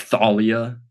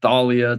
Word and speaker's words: Thalia: set about um like Thalia too yeah I remember uh that was a big debate that one's been settled though because at least Rick pronounces it with the th not the so I think that